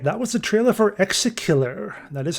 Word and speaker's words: ExeKiller: Wishlist Exakiller on Steam. All right, that was the trailer for Exacillar. That is how it's pronounced.